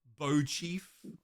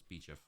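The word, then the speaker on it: Beauchief: Bow Chief, obviously. Obviously pronounced Bow Chief. No, it's Beechif.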